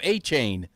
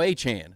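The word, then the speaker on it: Achane: Achain is now Achan.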